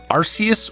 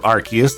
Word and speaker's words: Arceus: so yikes number four arceus or arceus depending on how you prefer to pronounce it the last mythical pokemon